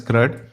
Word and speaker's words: CRUD: It is pronounced as CRUD.